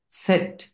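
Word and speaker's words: Zett: না সাগনে সেট সাকসা সেট এটার উচ্চারণ কি হবে সেট সেট সেট এটা জেড না সেট জাগনিস জেড ওকে তারপর হবে শেষ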